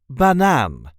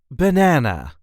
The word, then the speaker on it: banaan: see how to pronounce banan or in English banana. This is the way we say banan. Banan. There is a light emphasis on the last syllable.